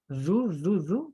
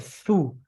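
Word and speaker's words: أعوذ: A'udzu billahi Yaitu Budi huruf zuta, huruf Z gigit lidah, zu dipertegas lagi dan syai. Bukan syai tapi syai. Coba terakhir Ibu. A'udzu billahi minasyaitonir. A'udzu, bukan su, tapi zu.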